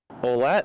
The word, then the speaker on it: Ouellette: Ouellette's a little closer, but the thing is, so in Ouellette, it should be, the OU should be treated like a W.